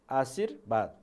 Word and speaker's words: आशीर्वाद: यहाँ लेख्दा वा लेखेको छ तर बोल्दा ब बोल्नुपर्छ, आशीर्वाद।